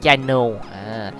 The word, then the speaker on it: Chino: Chino hay không, đọc là Chino.